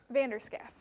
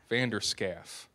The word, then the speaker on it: Vander Schaaf: Vander Schaaf. Vander Schaaf. Mm-hmm. Okay, all right. So just kind of how it looks.